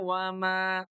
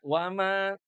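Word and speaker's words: وَمَا: Jadi kalau berhentinya di wama kembali ke aslinya dua harakat. Jangan kalau berhenti di mad jaiz munfasil itu jadi empat. Jangan ya. Jadi tidak begini. Tidak. Bima unzila ilaika w enggak begitu tuh ya. Shat allahan. Nah tidak boleh ya. Jadi bima unzila ilaika wama. Berhentinya cukup dua harakat.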